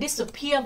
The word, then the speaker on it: disappear: Còn từ appear nhấn vào peer, disappear vẫn nhấn vào peer, disappearing nó vẫn vào peer.